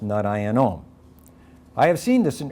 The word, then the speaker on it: nārāyaṇam: If narayanam is at the end of a line, it's pronounced narayanom.